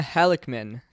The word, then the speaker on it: Halickman: today we have a special guest sharona halikman did i pronounce that correctly that's right thanks for having